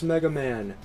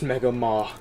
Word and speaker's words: Mega Maw: I know some of you might have saw that and be saying, oh, that's Mega Man. No, it is pronounced Mega Maw.